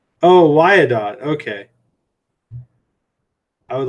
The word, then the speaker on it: Wyandotte: It's pronounced Wyandotte. Oh, Wyandotte.